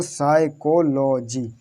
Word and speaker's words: psychology: तो P silent रहेगा तो क्या करो, इस पी को साइलेंट कर दो, कहाँ से स्टार्ट कर दो, एस से स्टार्ट कर दो, एस से स्टार्ट करो साइकोलॉजी। अब जो CH आता है,